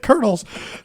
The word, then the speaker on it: Colonels: How do you pronounce that? Colonels.